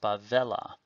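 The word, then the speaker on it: בָּבֶלָה: Vella this is bevelle the proper name Babylon plus a directional hey remember the directional hey cannot take the stress so the word is pronounced by Vela then the verb here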